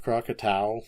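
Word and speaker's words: Krakatau: as 57 hours in the immediate neighborhood of Crocatau. And that's again spelled K R A K A T AU. I've heard people pronounce this crackatoa, but toa isn't t au.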